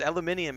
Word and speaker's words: aluminium: And so I just was going aluminium because aluminium is the British pronunciation anyway, but it's aluminum would be the English, right?